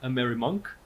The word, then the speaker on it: AmeriMUNC: us immunang and your uh conference which is a merry Monk Is that how you pronounce it yeah a mirror monk a merry